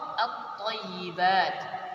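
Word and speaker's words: الطَّيِّبَات: Cara membacanya, lamnya diidghamkan atau dimasukkan ke huruf setelahnya, ke salah satu huruf yang 14 ini, sehingga lamnya tidak terbaca. Contoh at-thayyibat, at-thayyibat.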